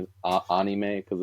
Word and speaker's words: anime: um which yeah again so anime the correct pronunciation is a anime because it's the a sound but Ane yeah